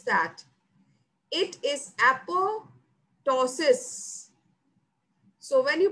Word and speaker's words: apoptosis: means falling of leaves so falling remember the pronunciation is not apoptosis no it's not that how you pronounce that it is apo tosses so when you pronounce apotosis don't say it as apoptosis no it's apotosis the basic biology in the process of uh